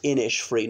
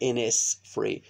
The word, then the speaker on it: Innisfree: or possibly in London this is pronounced in ish free not innisfree inish just meaning island in irish so waffles well that